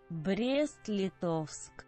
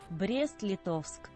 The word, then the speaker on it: Brest-Litovsk: Brest-Litovsk. There we go, perfect pronunciation. Nobody can say I've never pronunciated correctly. Never can it be said again. 1 second, I'll say it once more for prosperity. Brest-Litovsk.